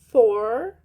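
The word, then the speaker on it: four: three tá treina bastante o número quatro for for Então esse U é mudo for cinco esse e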